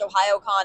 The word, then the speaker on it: Ohayocon: I'm aware that it's pronounced Ohiooon.